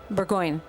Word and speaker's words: Burgoyne: Um, in that song you named uh, you name-checked your then roommate Martin Martin Would you pronounce it for me? Martin Burgoyne? Burgoyne.